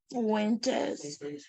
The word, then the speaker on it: Fuentes: Nick Fuentes.